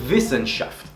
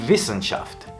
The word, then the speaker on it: Wissenschaft: En alemán la W se pronuncia como una B, haciendo vibrar el labio inferior.